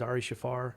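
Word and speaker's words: Ari Shaffir: got one of the joe rogan's comedian buddies ari shafar yeah that's how you pronounce his name he said he was going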